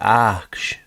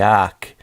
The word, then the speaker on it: arche: these elements was the arch or the ark. It's with an e. It's spelled a r c h e. So it's like ar.